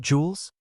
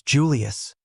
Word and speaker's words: Julius: has it been old jws stop getting my name wrong it's Julius an old man having